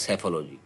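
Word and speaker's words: psephology: ये इसमें piece silent होता है। इसको बोलते हैं सेफोलॉजी।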